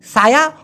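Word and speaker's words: saya: যেমন সায়া, ওরা বলে সায়ে, সায়ে, এসে সা, ওয়াই ই, ওই যে ওয়াই এ আ না হয়ে ওয়াই ইয়ে হয়ে গেছে, তো সায়ে।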